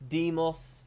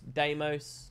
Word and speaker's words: Deimos: The thing is, there are different valid pronunciations of Deimos. Deimos, Deimos, Deimos.